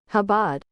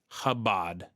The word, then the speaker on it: Chabad: Now I'm going to figure out how to pronounce it, okay? Because I don't speak Yiddish. It is Habad. Habad. So, it's C H A B A D.